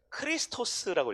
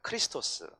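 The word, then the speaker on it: Χριστός: 두 번째 X는 X가 아니라 크 발음이에요. 크. 그래서 크리스토스라고 읽어요. 크리스토스.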